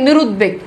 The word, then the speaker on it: নিরুদ্বেগ: এরপর দেখেন শব্দের মধ্যে যুক্ত দয়ের সাথে যদি বফালা যুক্ত থাকে তাহলে সেই বয়ের উচ্চারণ বজায় থাকে, অর্থাৎ দেখেন নিরুদ্বেগ এখানে দেখেন বয়ের যুক্ত,